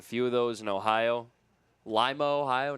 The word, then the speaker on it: Lima: Limo, Ohio. Not Lima, the capital of Peru.